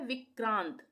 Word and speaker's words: विक्रांत: जैसे हम इसको बोल रहे हैं विक्रांत। विक्रांत। विक्रांत बोल रहे हैं तो क आधा होगा। क का उच्चारण आधा होगा और यह र पूरा आएगा पदेन वाला र इसका उच्चारण पूरा होगा विक्रांत विक्रांत क का आधा उच्चारण और र का पूरा उच्चारण होगा पदेन में तो यह हो गया